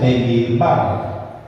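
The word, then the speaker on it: במדבר: El libro de Números, en su idioma original no se llama Números, sino que está en hebreo y se pronuncia Bemidbar y significa en el desierto.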